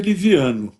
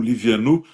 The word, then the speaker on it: Livianu: A pronúncia é Liviano, né? Mas quando as pessoas me perguntam o meu nome, eu acentuo o Livianu para não haver risco de escrever com O, né? Mas a pronúncia é muito paroxítona.